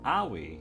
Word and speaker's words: Aoi: How do you pronounce that? I am checking out online. Owie. Owie. Aoi, apparently.